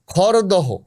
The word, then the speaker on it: খরদহ: যেমন ধরুন এই যে শিয়ালদহ আমরা বলি শিয়ালদা খরদহ। খরদা মালদহ মালদা হোডিং মানে